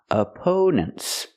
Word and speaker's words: opponents: The stress on the second syllable. We use a long o sound like no and go. for the second syllable oppo opponents. And the last syllable is relaxed n opponents.